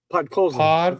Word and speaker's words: Podkolzin: Then at the 8:19 mark, but how do you say that? Pakolson? Pakolson? He gets his 13th from it. What? Say that again. Podkolzin. Podkolzin. Podkolzin.